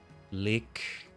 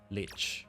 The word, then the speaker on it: lich: Lick or leash, I should say. Lich. Yeah, it's lich. If I'm ever unsure about the pronunciation of that word. L I C H. Lich. I just keep thinking of Wrath of the Lich King. Lick King is not how I say it.